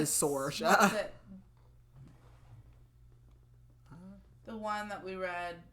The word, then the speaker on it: Saoirse: I don't know how it's spelled, but I wrote S-O-R, like, so I knew how to pronounce it again. So yeah, I'm going to say Sorsha.